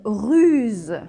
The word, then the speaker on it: ruse: catégorie de la big de pierre c'est une ruse oui alors une russe c'est quand on est